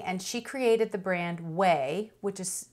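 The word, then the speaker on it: Ouai: she's very entertaining and she created the brand whey which is spelled o-u-a-i and i really like a lot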